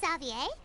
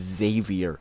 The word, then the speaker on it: Xavier: whatever hey isn't that zavier so he's back in Fontaine now that is not how you say his name Pon shut up that that is that word is Xavier it is not Z I understand that